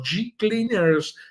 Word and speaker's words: G Cleaners: Se escribe Hecleaners y se pronuncia, dígalo como yo, G Cleaners.